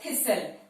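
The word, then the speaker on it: thistle: Word है थिसल, ध्यान से देखिए, इथ का स्ट्रोक, फिर हमारा टी हमारा साइलेंट है, इथ के बाद एस सर्कल, फिर एल, थिसल।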